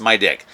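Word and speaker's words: MIDIQ: and he names it the name is spelled m i d IQ and it's pronounced my dick so the whole thing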